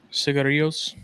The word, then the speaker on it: cigarillos: What's the proper pronunciation? Cigarillos.